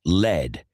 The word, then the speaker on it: lead: Lead es plomo y se pronuncia lead. Pero esta palabra puede ser confusa porque también se pronuncia lead, aunque en este caso lead significaría liderar. Por eso Led Zeppelin, Zeppelin de plomo, optó por escribir la palabra lead como suena, para que la gente